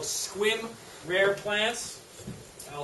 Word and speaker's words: Sequim: last year you think all three it's called squim rare plants I'll spell that for you because it's in Sequim Washington